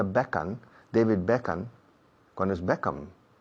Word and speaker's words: Beckham: Claro, decía Beckham, David Beckham, cuando es Beckham. Hay que cerrar la boca, es Beckham. No es Beckham.